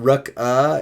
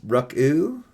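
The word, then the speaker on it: Ruca: Not Ruck-uh, it's Ruck-oo.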